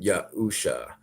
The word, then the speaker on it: Yahusha: But no, I'm actually trying to say it's pronounced Yahuwah and Yahusha.